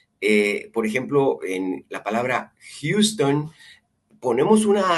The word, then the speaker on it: Houston: Por ejemplo, en la palabra Houston, ponemos una H y se pronuncia, pareciera como una J, pero es muy suavecita.